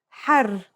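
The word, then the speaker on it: حار: For example, here are two words that have the same letters but are pronounced differently and have different meanings because of the difference in vowelling. Har means hot, while hur means free.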